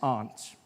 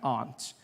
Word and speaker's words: aunt: For instance, I pronounce the opposites of uncle as aunt. I say my aunt. Out here, you say my aunt, which to me is an insect.